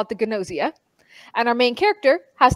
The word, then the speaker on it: Gnosia: It is called Gnosia, spelled Gnosia. I wasn't sure how to pronounce it. I really thought the G was silent until I started watching.